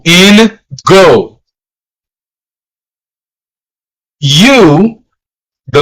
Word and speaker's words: u: U. The letter U is la. The letter U in Spanish is pronounced like the double O in moon.